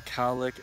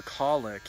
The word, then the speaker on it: cowlick: says I have a cowlick and just like it is a cowlick the same thing he said I always called it a colic he said a cow lick yeah oh so I was